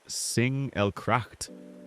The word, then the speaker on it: Singelgracht: We're beginning our journey here on the Singelgracht, pronounced Singelgracht, one of the canals that once marked the very edge of the old city.